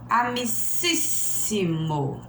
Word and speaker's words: amicíssimo: Exemplo: amicíssimo. Ó, depois da sílaba forte ainda tem mais duas para frente. Então, ela está na terceira para trás.